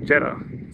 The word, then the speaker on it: Jeddah: theed have a good that's not how you say jeda how do you say